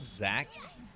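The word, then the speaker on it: Xak: It's called Zack. It's what What is it? Zack, the something of the stage. Uh, and it's spelled X A K.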